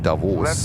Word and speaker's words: Davos: It's being pronounced Davos with a long O in the end to Davos.